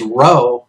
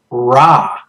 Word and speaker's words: Ra: got the name wrong I thought it was row but it actually turned out to be rah which is the Sun God of Egypt and you can hear